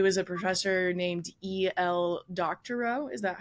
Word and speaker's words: Doctorow: Doctorow. Is that how I pronounce it?